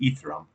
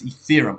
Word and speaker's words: Ethereum: I was pronouncing this thing Etherum. I don't know why I was doing that, but it's Ethereum. I heard a couple people on on Bloomberg say it's Ethereum.